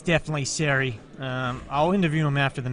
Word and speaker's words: Ceri: to count him down I believe it's pronounced Siri but it's okay you